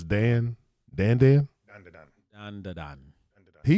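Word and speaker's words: Dandadan: It's- Don to Don. Yeah, so you spell it D-A-N, D-A-D-A-N. If you're gonna pronounce it how the Japanese pronounce it, it's Don.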